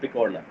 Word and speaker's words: picorna: Now, when we are talking about picorna virus, I am talking about picorna. That's how I am pronouncing it, or you can pronounce it as picoRNA viruses.